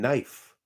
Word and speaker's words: knife: the heck is with that silent k and knife I could see if